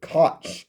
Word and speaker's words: Koch: Like I say, my dad, he ran 11 convenience stores and filling stations for Hudson and Coke Marketing, or a lot of people pronounced it Koch, K-O-C-H.